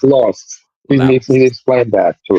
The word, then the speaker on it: LXST: Oh, there's LXST, law. Yeah, it's pronounced lost.